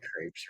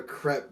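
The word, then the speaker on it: crêpe: good friend you bet no he's trolling your pronunciation it's a crap it's crepe no it's not i've it's literally a crap i've been in french class you rapped i think i think the actual pronunciation might be crap but i've always heard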